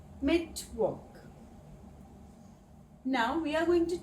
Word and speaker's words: Mittwoch: The w in German is pronounced like the English v. So, Mittwoch. Mittwoch.